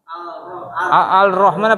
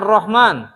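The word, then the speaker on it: الرحمن: Al-Rahman apa Ar-Rahman? Hilang lamnya kan?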